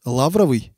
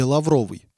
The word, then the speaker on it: лавровый: Если слово употребляется как дерево, лавр, тогда ударение ставится на первый слог – лавровый.